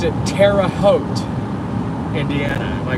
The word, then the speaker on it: Terre Haute: It is Terre Haute, Indiana.